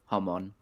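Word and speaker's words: Haman: So, Yeah, I did like the way Aaron pronounces Homon, like Ashkenazi.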